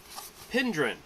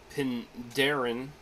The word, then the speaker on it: Penderyn: going to be doing pin dhryn I know it says pin Darren if you just sort of look at it and spell it out but I guess it's pronounced pin dhryn it is the one